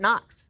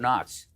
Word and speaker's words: Knox: You did a little deep dive today on Fort Knox. That I did. The interesting thing about Fort Knox is that the K is silent.